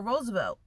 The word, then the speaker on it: Roosevelt: Find Roosevelt. out how it's pronounced.